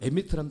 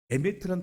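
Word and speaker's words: אמת: 진리라고 하는 단어는 에미트란 발음인데 맨 앞에 나오는 게 알렙입니다.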